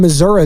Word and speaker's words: Missouri: out to Ozark in Missouri though hope I'm pronouncing it correctly it's not misery right it's Missour Ozark what's going on